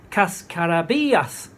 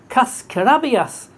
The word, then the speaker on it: cascarabias: The reason is I was saying, cascarabias. What the hell are you talking about? Yeah. And then they said, oh, cascarabias. Is that right, Gordon? Have I got that correct? Cascarabias. When you say it wrong... Yeah. The push is so important, much more important than in English.